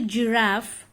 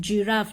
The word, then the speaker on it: giraffe: Okay, so when coming to giraffe, it doesn't follow phonic rule for the beginning letter. So now it is easily understood for you that giraffe, G, but the letter is being pronounced here G.